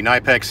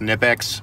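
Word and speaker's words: Knipex: got the good trusty nypex here i know it's pronounced nipex but i feel more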